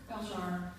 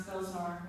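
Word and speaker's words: Belzhar: yeah thank you so this book belshar which some people pronounce belzar which is fine but I'll answer anything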